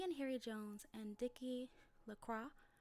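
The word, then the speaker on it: Delacroix: harry jones and dicky lacroix the villagers pronounced his name de la croix de la the village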